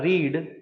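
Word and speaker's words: read: रीडेड third option था रीड fourth option था हैड रेड रीड रेड रेड ऐसे इसका प्रोनंसिएशन है रीड रेड स्पेलिंग सेम है प्रोनंसिएशन अलग है v1 व2 v3 ऐसी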